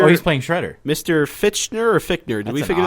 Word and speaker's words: Fichtner: So William Fichtner is playing Shredder. You and your friends are dead. So Mr. Oh, he's playing Shredder. Mr. Fichtner or Fichtner?